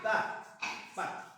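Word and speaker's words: Ptah: Horus era el hijo siempre sentado junto a Ta. Así se llamaba el padre de Horus. P-T-A-H. Ta. Horus también fue llamado fonéticamente como, y luego hay unas que no tienen pronunciación, Cristo.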